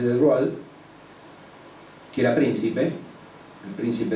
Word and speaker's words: de Broglie: francés Louis de Broglie, se escribe de Broglie, pero se dice de Broglie, que era príncipe, el